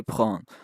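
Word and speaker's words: prennent: e n t but don't bother pronouncing the other n e n t because that doesn't exist you just say prawn and that's not not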